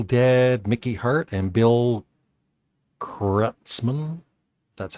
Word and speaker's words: Kreutzmann: Grateful Dead, Mickey Hart, and Bill Kreutzmann. That's how you pronounce it.